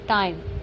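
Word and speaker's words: time: तो नेक्स्ट है हमारा शब्द के अंत में आने वाले इ का उच्चारण नहीं होता।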